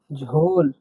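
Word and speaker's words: жол: এর মত উচ্চারণ হয় তাহলে ঝ এর মত উচ্চারণ হয় ঝ উদাহরণ দিচ্ছি আমরা এখন একটা দেখুন ঝোল ঝোল মানে রাস্তা রাস্তাকে কাজাকে বলা বলা হয় ঝোল।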